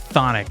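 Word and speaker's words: chthonic: I remember it's just it's just thonic it's just like you ignore the CH I remember being mad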